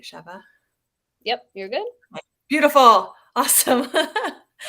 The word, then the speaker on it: Sheva: I am saying it correctly, right, Sheva?